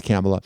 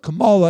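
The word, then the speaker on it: Kamala: for the people CA I love saying her name wrong I know it's camela but Cala if you really care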